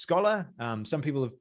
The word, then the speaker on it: Skola: guess scholar and um it's kind of like a like a scholar like as in like